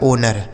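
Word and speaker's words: owner: इसे पढ़ा जाता है ओनर ओ डब्ल्यू एन ई आर इसे पढ़ेंगे बच्चों ओनर ओनर का हिंदी अर्थ होता है मालिक ओनर मतलब मालिक होता है।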